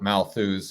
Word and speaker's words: Malthus: And I'd like to start, if I may, with in the 1800s, I believe the early 1800s, with Thomas Malthus, or Malthus. Some people, say his name differently.